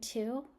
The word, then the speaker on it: two: Well, the W and two is because two is related to twin twice 20.